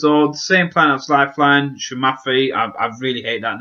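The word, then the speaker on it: Psamathe: Now, she comes from a homeworld planet called, and forgive me, I'm going to brutalize this name, but apparently it's pronounced Shumafi.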